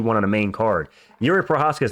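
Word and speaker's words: Jiří Procházka: Getting on to the next one, Jerry Prochazka versus Carlos Ulberg. Why did I say it like that? Yuri Prochazka versus Carlos Ulberg for another number one contenders fight.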